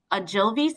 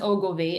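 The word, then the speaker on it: Ogilvie: told me, took me off because I have Agilvi syndrome. Now my blood sugar is running higher than it has been. What should I do or take to combat this? Um, Thanks. So that's it's pronounced Ogilvy, and that just was for you, but like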